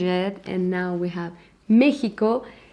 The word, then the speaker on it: México: and now we have Mexico. We write it with X, but the pronunciation is with J, and it's also not what it used to be a long time ago, okay?